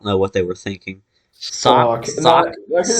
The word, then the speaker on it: Sawk: Sock, Sock. sock, I can just sock and imagine this throw. like a Pokemon that looks like a sock. It's spelled SAWK, Sock.